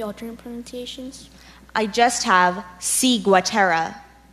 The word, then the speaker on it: ciguatera: are there any other implementations I just have C Gua Tara C go Tara C I G you a